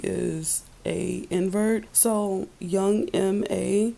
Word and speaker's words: M.A: a invert so young M.A it's how you pronounce it and a huge connection that I noticed with this pronunciation young M.A it sounds like May Eartha Kitt's middle name